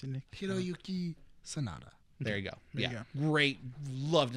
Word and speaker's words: Hiroyuki Sanada: I found his name, but can you pronounce it, Nick? Hiroyuki Sanada.